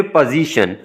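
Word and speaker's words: position: फिर पोजीशन, तो पोजीशन में देख लें यहाँ भी S जो है वो Z की आवाज़ निकालता है, और ये शीन की आवाज़ निकल रही है, TI की। तो ये जो सिंबल है ये वाला, ये शीन के लिए है, पोजीशन।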